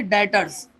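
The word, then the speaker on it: debtors: तो जिससे हमें पैसे लेने होते हैं वो हमारा कहलाता है डेटर्स। क्या होते हैं हमारे वो डेटर्स होते हैं। लिखा डेप्टर है बी साइलेंट होता है हमारा।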